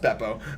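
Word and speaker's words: Bepo: a bear oh yeah well it's better it's pronounced Beppo and and and no but like one of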